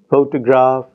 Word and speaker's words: photograph: your photo photograph Photography in the first word the stress is on the first syllable it is on the first and third syllable in the next word and it is on the second syllable in the third word photography so we have